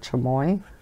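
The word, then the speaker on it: chamois: do you pronounce that chamoy I do believe the S is silent I hope everybody's week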